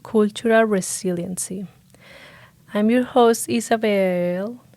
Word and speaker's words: Isabel: resiliency I'm your host Isabel Isabelle Isabel sorry sometimes I just get like I just say my name in like with accent you know Isabel but no Isabel as you can see